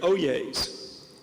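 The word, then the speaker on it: Hollier: Opelousas went to LSU they are the oyas and I can spell that too h-o-l-l-i-e-r and I do know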